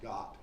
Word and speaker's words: Gath: Elah Valley is down in here, and here's Gath. It's actually usually pronounced Got in Israel.